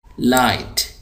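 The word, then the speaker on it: light: हाय हाय fast great लाइट यहां पर जी silent हैको पढ़ेंगे लाइट आगे चलिए हैपी हैपी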